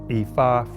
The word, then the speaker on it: Ifa: instance, he said to pronounce that correctly, the I is a mid tone. So, that's re, do, re. And then so, so it's re, so, re, so. E, fa, e, fa. Is the proper way to pronounce it.